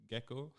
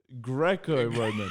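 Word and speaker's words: Greco-Roman: do you say a Gekko Gekko Roman Champion I thought you told me about the lizard it's a gecko man is that I mean that's how do you say it Greco Roman he's a gecko he's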